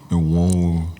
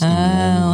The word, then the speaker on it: Enwonwu: Enwonwu. Enwonwu. Yes, Enwonwu. That's how I pronounce his surname.